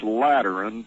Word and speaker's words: Lateran: By terms of this Lateran treaty, did I pronounce that right?